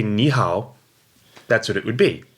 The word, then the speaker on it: 你好: means you good its knee third tone which means you and how also third tone which means good now